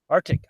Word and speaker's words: Arctic: So, Ashley says, say it like Arctic. Arctic. Arctic.